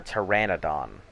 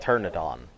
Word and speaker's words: Pteranodon: tad yeah see look tur Pteranodon they a Pteranodon we're all wrong yeah I was like turn iton nope they're pteranodons ex I think Z was